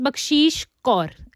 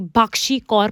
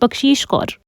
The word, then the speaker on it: बक्शीश कौर: second year Harsh so my name is बक्शीश कौर एंड सर ने मेरा नाम लिटरली भक्षी कौर प्रोनाउंस किया था बट I know it's मी सो I just have to गो बट इट वास really disappointing like sir like it's बशीश कौर Urvashi और इसके साथ